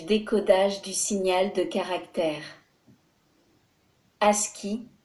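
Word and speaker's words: ASCII: du signal de caractère Aski prononcé à ski American Standard code information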